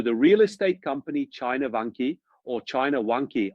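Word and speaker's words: Vanke: So the real estate company China Vanki or China Wanki I think it's actually pronounced Wanki even in China itself is facing the risk of a default.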